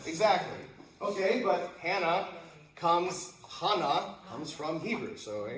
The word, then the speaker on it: Hannah: see like names like Hannah or Savannah, they put an H on the end, but you don't pronounce it, right? Silent. Silent. Exactly. Okay. But Hannah comes Hana comes from Hebrew.